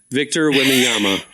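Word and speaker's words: Victor Wembanyama: because I don't know how to say it Victor wiama thank you that man Victor whama made $10.1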